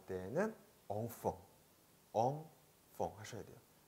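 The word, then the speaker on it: enfant: 샹, 샹, 샹피온, 샹피온, 엉퐁, 엉퐁. 앙팡이 아니에요. 한국식 표기할 때는 앙팡이라고 표기하는데요. 프랑스에서 발음할 때는 엉퐁, 엉퐁 하셔야 돼요. 앙팡 하면은 프랑스 사람들 못 알아들을 거예요.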